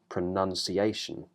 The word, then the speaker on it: pronunciation: mouth vow for announcement but for the other ones we have a strut vow pronunciation renunciation denunciation so none okay not noun but one thing all